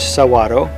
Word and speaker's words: saguaro: The saguaro, pronounced saguaro, is the iconic cactus and a keystone species of the Sonoran Desert.